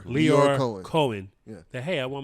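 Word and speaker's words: Lyor Cohen: Leor Cohen.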